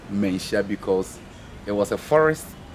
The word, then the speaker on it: Manhyia: he's not frightening okay if he can pronounce a proper name of the palace museum dementia palace museum yeah people when they look at that is it throws them off perfect yes so it's mancia palace museum and this place was